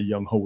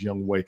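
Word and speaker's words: Younghoe: say his name and that young ho is Young Way.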